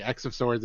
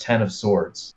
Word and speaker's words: X of Swords: the notes on the wikipedia it does say x of swords is pronounced as e-x so x of swords because